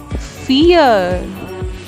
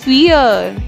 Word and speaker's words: vier: Next is 4, which is Vier. We have also done this in our last video that V is pronounced as F. So it's Vier.